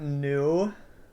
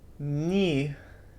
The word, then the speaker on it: Nu: It's not new. There's no new letters in the alphabet. It is ni, ni.